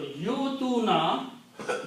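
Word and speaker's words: يؤتوا: But don't pronounce wow. Well, wow has nothing to do with this word, except that it is helping Hamza. So yutuna, they give.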